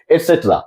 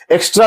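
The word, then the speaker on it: et cetera: एटसेट्रा, इसका pronunciation है एटसेट्रा। ईटीसी means एटसेट्रा। एक्स्ट्रा नहीं है, एक्स्ट्रा नहीं है, हम इसे बोलते हैं एटसेट्रा मींस इत्यादि, आदि।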